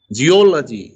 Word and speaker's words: geology: Geology, o is stress.